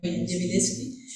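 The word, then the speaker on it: Gentileschi: Jemileski, ¿no? Los que sabéis pronunciar G italiano, Jemileski.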